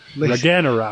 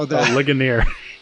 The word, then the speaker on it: Ligonier: Laganera. Was it? How do you say it? Bahamut. Legion. No. Ligonier.